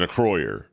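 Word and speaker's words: Acroyear: um biotron microtron and a croyer are um he was pronounced an Acro year I caught I I always pronounce it acroyer pretty sure it's a croyer which was basically everybody's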